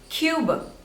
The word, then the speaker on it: Cuba: this one is Cuba Cuba two syllables and stress is on the first one Cuba Cuba Cuba next